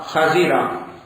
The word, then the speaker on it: خضر: ہم نکالتے ہیں سبزہ، خضرہ۔ اللہ تعالیٰ کے نبی ہے نا حضرت خضر، یہ اصل تلفظ ہے، خا کے اوپر فتح اور ذات کے نیچے زیر، صحیح لفظ یہ ہے خضر علیہ الصلوۃ والسلام،